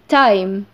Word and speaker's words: time: نخلي بالنا الإي في آخر الكلمة ما تنطقتش. بس عملت إيه؟ أثرت معايا على الحرف المتحرك اللي في النص وخلته يتنطق باسمه. الحرف المتحرك معايا اسمه إيه؟ I. فنطقته زي ما هو. Time.